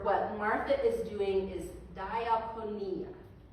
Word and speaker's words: diakonia: The Greek word for what Martha is doing is diaponia. It's spelled d i a k o n i a.